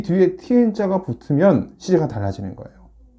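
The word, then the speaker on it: 天: 중국어로는 어떻게 발음이 되냐면 병음이 이렇게 써요. 티엔, 일성이고요.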